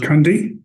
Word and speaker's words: Cundy: my name is cundy ju nde you were close my pronunciation was off I pronounced the E okay thank you Mr